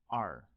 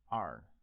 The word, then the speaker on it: 二: e-r e-r like this with a tone on top of the vowel so that is the fourth tone so let's break it